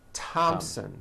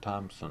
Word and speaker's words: Thompson: spelled with a th they are pronounced as if they were spelled with a normal t t like that and these words are Thomas Thomas Thompson Thompson Teresa Teresa Thailand Islands